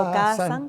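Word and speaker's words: Okāsan: Sí, Okazan, se pronuncia Okazan, porque tiene la rayita esa arriba, la A, entonces es una A extendida.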